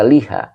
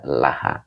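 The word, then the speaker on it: لها: aslinya Li ya tapi tidak dibaca Liha dibaca Laha huruf j kalau huruf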